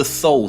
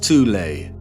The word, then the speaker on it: Thule: secret society within germany called the thol society sometimes alternatively pronounced tulay that had sub-factions within